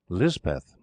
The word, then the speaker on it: Lispeth: chaplain christened her Elizabeth and lispeth is the hill or pahari pronunciation later Kera came into